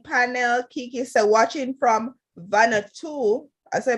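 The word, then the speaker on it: Vanuatu: said good morning panel kikis are watching from vanna too as i pronounce it she said v-a-n-u-a-t-u where is that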